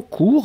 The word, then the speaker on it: cours: Et alors, faites attention, court, hein, on va vraiment l'écrire, C-O-U-R-S. Donc, S final qu'on ne prononce pas, mais il doit être là, d'accord ?